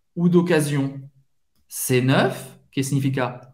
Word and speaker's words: d'occasion: Essa aqui tem o som do Z.